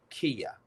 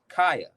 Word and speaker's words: Kaya: Her name is uh, Kia. Did I say it right? Kaya, Kia. It's Kia. I think it's Kia, Kaya. No. I'm sorry. My mistake. Kaya. Kaya.